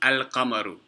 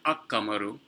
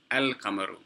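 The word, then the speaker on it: القمر: When an alif lam enters upon a word that begins with a moon letter, you pronounce the lam with a sukoon on it. So it's al-qamaru, al-qamaru, not ak-qamaru, al-qamaru.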